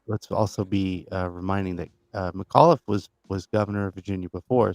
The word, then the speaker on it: McAuliffe: Yeah, McAuliffe.